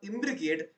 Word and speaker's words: imbricate: simple trick for imbricate now imbricate doesn't it rhyme with Advocate tell me yes or